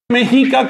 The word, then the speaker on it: Mexica: De hecho, si voy a decirlo con toda propiedad es mexic con dos saltillos.